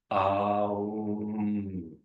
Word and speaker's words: Om: So we have these 3 pure syllables that form Om. Aum.